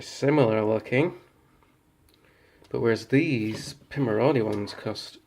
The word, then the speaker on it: Pimoroni: I always thought it was Pimoroni, but it's pronounced Pimoroni.